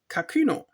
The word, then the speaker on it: Kakuno: Fun thing is, so when they spell it with the umlaut, it actually properly would not be pronounced Kakuno, but Kakuno. That's a German thing. I don't think that's meant to be a proper umlaut, so Kakuno it is.